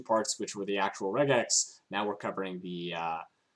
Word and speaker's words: regex: okay snf regex regex i'm trying to say regex because i was wrong apparently it's pronounced regex cheers to whoever mentioned